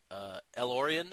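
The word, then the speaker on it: El-Aurian: Guinan, for anyone who doesn't know, is Elorian, I believe is how you pronounce her species.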